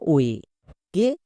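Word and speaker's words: wake: তাহলে ই কে দেখে বুঝতে পারলাম ডব্লু এ এর জন্য ও এ, কে, কে এর জন্য কি হবে? কো। নেক্সট, শেষের ই সাইলেন্ট, কেন? কারণ একে দেখে বুঝতে পারলাম, তাই শেষের ই এর উচ্চারণ করার দরকার নেই। কি হলো? ডব্লু এ কে ই, ও এক।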